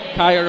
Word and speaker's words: Chaya: Yeah, one of those, I think a lot of us did mispronounce that name quite a while, with a soft C sound rather than the hard K sound.